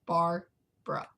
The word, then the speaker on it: Barbra: but you say it's so it's just like Barbara but it's spelled without the second a apparently it's just bar bruh there's no second a and a lot of